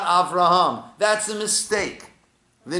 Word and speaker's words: Avraham: Rome of Rumi right so you don't hear the hey and people made a mistake to think oh his name is actually I've wronged but not Avraham that's a mistake the